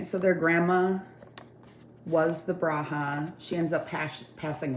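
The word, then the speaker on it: bruja: their tattoos then they I've only heard this pronounced bruha but in the show they say Braha I believe um so there are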